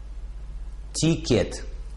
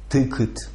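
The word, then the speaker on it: ticket: делаете 2 грандиозные ошибки это слово по-английски на самом деле звучит так короткая ой то есть и и 2 безударный слог редуцируется и никогда не произносится как и тикет то есть слово на самом деле звучит так тыкать тыкать даже в этом простом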